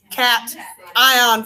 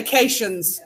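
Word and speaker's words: cation: tried to emphasize that it's cat ion for pronunciation a lot of people say Cashion's and I'm like dudes it's not Casey Jones stupid cat ion okay all right part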